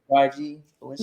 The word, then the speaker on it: YG Balenciaga: Just think of the designer brand Balenciaga, and then just add like YG in front of it. So YG Balenciaga.